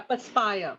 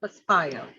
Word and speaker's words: perspire: Yeah, perspire, perspire. Perspire. So actually, we don't have that kind of weather. For us, it is dry summer. Yeah, dry summer. Okay, the word perspire rhymes with aspire.